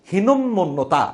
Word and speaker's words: হীনমন্যতা: আসলে ব্যাপারটা হচ্ছে এখানে বানানটা আমরা উচ্চারণটা করতেই ভুল করি। উচ্চারণটা আসলে হীনমন্যতা, দুইটা ম উচ্চারণ হবে।